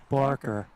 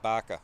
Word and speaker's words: Barker: Barker. The first time I thought you said Baca. No. Baca. Like a Bostonian. No, I'm not a Bostonian.